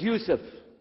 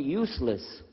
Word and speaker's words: Yusuf: My name is Yusuf. Can you say Yusuf? Let me say Yusuf. Yeah, very good. I wish you'd teach my wife. She keeps mispronouncing it. She calls me useless.